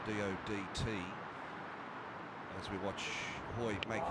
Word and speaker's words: Dodt: there in the UK exactly the same spelling but pronounced as a DOT but generous tide is